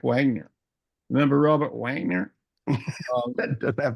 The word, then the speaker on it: Wagner: a V like we say Vagner in German don't we look like Wagner remember Robert Wagner that